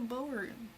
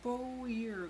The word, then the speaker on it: Boer: show you guys oh maybe it's a bower I think I said it wrong before here it is it's a Boer goat Boer anyway this is the